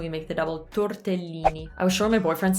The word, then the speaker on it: tortellini: have another pasta one i used to always say tortellini tordellini so again we use the flap t torda so that's the other thing is the torda that uh uh in italian it's spelled with an e so tortellini tortellini so again there's a double l and an l is the sound that you can hold so we hold it and that's how we make